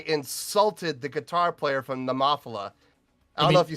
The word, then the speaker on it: Nemophila: about how I insulted the guitar player from Nemophila. I don't know if you see that in the chat. Go up to the top. You mean nemophila?